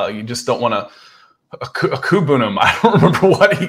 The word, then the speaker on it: Okwuegbunam: be the tight end 2 beating out Albert Okwuegbunam. And I said the name right, so I just need to phonetically.